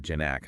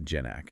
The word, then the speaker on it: Ginac: by Frank gyac oh interesting and uh he pronounces it janac not janak get to know uh he's been building software